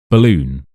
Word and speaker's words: balloon: So we have balloon.